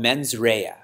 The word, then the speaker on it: mens rea: In the legal field, there's a term called mens rea. Correct? We have an attorney here. Correct? I'm pronouncing it right.